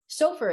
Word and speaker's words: Sofer: Okay, now we're gonna switch to Sofer is how you say your last name, right? That's right.